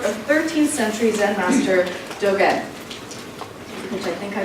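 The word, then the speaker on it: Dōgen: to the work of 13th century Zen master Dogen, which I think I mispronounced, Charlotte, didn't I?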